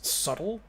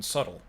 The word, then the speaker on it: subtle: weird you know cause subtle you don't pronounce the b in subtle but you pronounce subterfuge